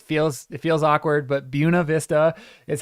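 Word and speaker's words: Buena Vista: buav Vista and and yes I know I'm pronouncing it weird but that is how the locals pronounce it unfortunately it feels it feels awkward but bua Vista is how it's pronounced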